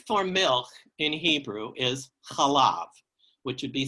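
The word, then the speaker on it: חלב: The word for milk in Hebrew is chalav, which would be C-H-A-L-A-V, chalav, if you're putting it into transliteration into English letters.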